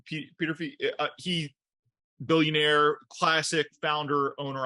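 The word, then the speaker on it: Peterffy: You know, look, Petrofy, I believe that's how you say his name, Peter Fee.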